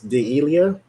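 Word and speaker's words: D'Elia: by the name of Chris de Leah I guess is how you say his name it's D ' e Li a so he is usually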